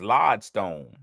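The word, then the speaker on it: lodestone: day is L stone it's spelled like LOD e Stone but it's LOD Stone when used literally LOD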